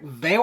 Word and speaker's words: Vale: I would really love for the voice actor, Eric Vale. I think Vale's how you pronounce it. Val.